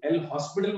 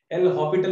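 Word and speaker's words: L'Hôpital: लेकिन एल हॉस्पिटल rule, जो एल हॉस्पिटल मत बोला करो, एल हॉपिटल होता है. स्पेलिंग चेक कीजिएगा, एल हॉपिटल, एच ओ पी आई टी एल, एल हॉस्पिटल.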